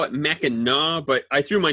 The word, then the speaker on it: Mackinac: Did I pronounce that right? Well, you did. In Michigan, we actually call it Mackinac, but I threw my name at the end of it, and so it becomes Mackinac.